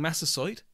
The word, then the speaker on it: Massasoit: neighbors retreated in horror at the violence leaving massasoit thank you alan for the correct pronunciation and the pilgrims to themselves more settlers